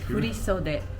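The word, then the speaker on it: 振袖: How do you pronounce that again? Furisode.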